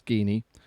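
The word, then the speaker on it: Geany: you get Guinea although someone probably say you pronounce it gyani but you know it's Guinea your graphics you got which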